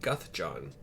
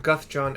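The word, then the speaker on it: Guthjon: given to us by Guth John which I have not spelled that yet but it's g u t is in Tom h j o n is in Nancy Guth John exactly as I am pronouncing it probably hopefully anyway a dirty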